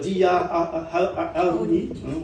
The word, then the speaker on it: Harouni: Alors je suis très heureux d'accueillir Dia Harouni. On ne prononce pas le H comme au Liban.